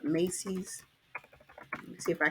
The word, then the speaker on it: Macy's: This was from Macy's, not Macy, but Macy's.